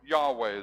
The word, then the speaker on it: Yahweh: of the Lord then my name the Lord Yahweh his way that's pronounced in Hebrew so he's he's saying I'm